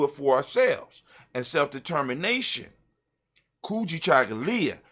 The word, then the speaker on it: Kujichagulia: for ourselves and self-determination kuji chagalya when you say it properly kuji chocolate and just let